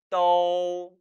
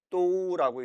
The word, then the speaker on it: 都: 따라 읽어봅니다. 떠, 떠. 절대 또라고 읽지 마세요. 이런 발음 없습니다.